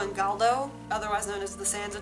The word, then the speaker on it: Galdo: previously they're twins i believe their names are pronounced calo and galdo otherwise known as the sansa twins um and